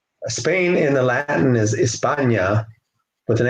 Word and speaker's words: España: Spain in the Latin is España with an H. The H is not pronounced España, so they call themselves Hispanos, coming from Spain.